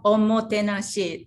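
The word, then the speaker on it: omotenashi: i'm not going to say it right but omo tanashi yeah well on mo tenaci that's our top motor because uh the that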